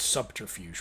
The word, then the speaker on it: subterfuge: Well, it's subterfuge, which is weird, because subtle. You don't pronounce the B in subtle, but you pronounce subterfuge.